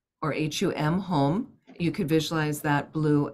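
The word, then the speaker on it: Hum: The third syllable down is a blue hung, or H-U-M, home.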